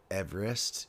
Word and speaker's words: Everest: Everest. That's three syllables in case you're wondering.